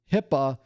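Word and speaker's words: HIPAA: It's it's spelled hip, but we don't call it hip because that would be weird. Instead, we call it HIPPA, which is a much better way to say it, but not a very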